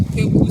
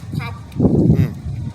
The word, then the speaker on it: Kweku: Kweku sounded as Kwaku.